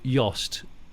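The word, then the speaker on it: Jost: Product strategy head Michael Yost with a J, I think I'm going to say.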